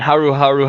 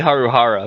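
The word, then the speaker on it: Haruhara: passed since now and Haru Haru haruko it's actually Haru Hara but I like saying Haru Haru because it's I mean her name is Haru Hara haruo it's impossible to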